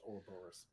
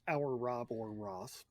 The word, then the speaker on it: Ouroboros: I've always heard it as Ouroboros. I've heard it both ways. And if you're a Red Dwarf fan, it's our Rob or Ross.